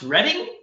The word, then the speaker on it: Reading: So I actually have a student named Simon that lives in, it's spelled Reading, but it's pronounced Reading.